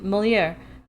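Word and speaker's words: Molière: I named my Loach mulier after did I pronounce that right after gon mole yep molier I remember molier start that got three minutes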